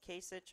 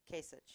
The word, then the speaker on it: Kasich: obviously not, I would support either Kasich or Bush.